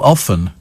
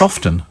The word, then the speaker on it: often: I'm the third person uses the word often does he know it has a silent T what oh often no it's often isn't it I mean